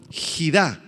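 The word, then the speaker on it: חִידָה: es la palabra hebrea gá h i d a con acento en la a gid y se refiere a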